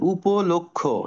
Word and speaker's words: উপলক্ষ্য: খসড় ওকে তারপর দেখ উপলক্ষ্য এটা বলবো উপলক্ষ্য বলবো না উপলক্ষ ওকে লক্ষ্য উপলক্ষ আর এটাকে আমরা কেউ